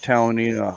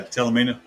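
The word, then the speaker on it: Talimena: We rode that Talonita highway. Um I don't know if that's how you pronounce it or not, Jay. Yeah. Telamina.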